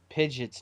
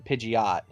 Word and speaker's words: Pidgeot: Yeah, I used to say Pidgeot's name wrong. I used to call him Pidgeot.